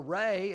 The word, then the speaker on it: Ra: that the sun god raah or Reay as is sometimes pronounced was that which gave